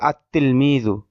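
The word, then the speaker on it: التلميذ: যেমন তিলমিজুন এর শুরুতে আলিফ লাম যুক্ত করলে হবে, লেখায় হয় আল তিলমিজু কিন্তু উচ্চারণ হবে আত তিলমিজু। লামটা লেখায় আসবে কিন্তু উচ্চারণে আসবে না, এই বিষয়ের আলোচনা।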